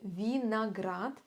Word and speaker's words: виноград: киви киви виноград виноград будьте внимательны в слове виноград мы произносим букву О как А почему Правильно Потому что она не стоит под ударением виноград персик персик персик